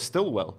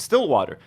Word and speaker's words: Stillwater: Lovely abductee patrons, Erica Stillwater, who I think I've been saying her name wrong. I thought it was Stillwell, but Stillwater, and Mr.